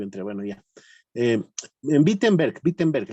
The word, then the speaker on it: Wittenberg: En Wittenberg, en Alemania. En Alemania, ¿verdad? Parece que Luis se salió y volvió a entrar. Bueno, ya. En Wittenberg, la W, en Alemania la pronuncian como B chica, ¿no? Wittenberg.